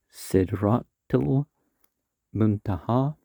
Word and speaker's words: Sidratul Muntaha: Sidratul Muntaha is the right pronunciation.